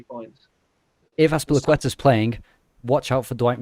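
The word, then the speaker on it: Azpilicueta: Because and also Thomas Tuchel calling Aspilicueta Aspli was the highlight, and then Pulisic saying you're saying his name wrong.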